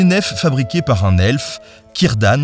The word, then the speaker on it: Círdan: La traversé s’effectue depuis les Havres Gris sur des nefs fabriquées par un elfe, Círdan le Constructeur de Navires, qui comme Charon